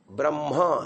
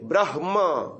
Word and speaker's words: ब्रह्म: किया बाकी लोगों ने ह का उच्चारण बाद में किया म का उच्चारण पहले किया ब्रह्म ऐसा किया हां ब्रह्म गलत उच्चारण है ब्रह म बोलिए ब्रह